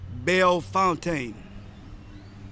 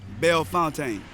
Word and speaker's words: Bellefontaine: normal struggle with anybody from anywhere trying to pronounce any of the names of some of these streets. Carondelet. Carondelet. Carondelet. Carondelet. Bellefontaine. Bellefontaine. Bellefontaine.